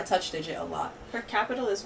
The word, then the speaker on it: Qapital: It's pronounced. It's Qapital. It's definitely Qapital. It's a big old Q, guys.